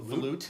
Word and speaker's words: volute: A volute.